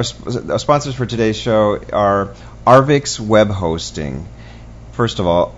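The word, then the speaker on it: Arvixe: It's Arvix. I always pronounce it wrong, but it's A-R-V-I-X-E. Arvix is how it's pronounced.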